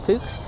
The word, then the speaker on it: Fuchs: Fuchs says, is that how you say it, Fuchs?